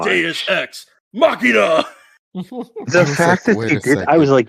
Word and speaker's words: Deus ex machina: You need to say it properly. It is Deus Machina. No, you're missing a word. Say it the way that he says it. This is the Deus Ex Machina.